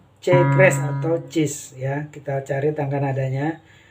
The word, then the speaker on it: cis: cis nah ini dia atau C kres dibaca cis ini kalau dimainkan kalau